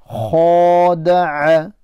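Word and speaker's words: خدع: A, khada'a. See the ayn? Khada'a. Khada'a. Don't pronounce the ayn like a hamza. Khada'a. No, that's wrong.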